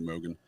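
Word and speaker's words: Mogen: with her last name but Mogan yeah I believe that's pronounced correctly Mogan so yeah they were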